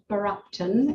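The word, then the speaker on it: Bergh Apton: cemeteries um up here we've got borupton it's how it's pronounced in norfolk berg apton quite quite it looks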